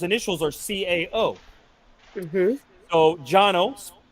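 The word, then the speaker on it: Cano: are Cao mm-hmm so Janos spelled c-a-n-o but pronounced Jano uh rat is his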